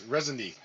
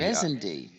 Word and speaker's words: Reisende: It's Resende. Oh, Resentee. Resende. Oh, I always pronounce it the German way because it's the people Well, who.